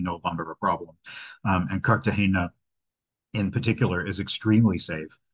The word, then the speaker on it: Cartagena: need to point out it is Cartagena. It is not Cartagena, which a lot of people, including myself, always thought. There is no tilde in the name, and it is named